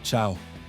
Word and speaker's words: ciao: Voici la Vespa Ciao, prononcée ciao, italien pour salut et au revoir.